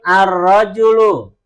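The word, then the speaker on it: الرجل: Karena cara membacanya berbeda. Baik, kita ulangi. Najmun an-najmu. najmun, an-najmu, Rajulun ar-rajulu.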